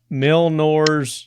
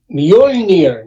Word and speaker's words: Mjolnir: Milnor's. Right? Thor's hammer, right? Something like that. Mjolnir, you mean?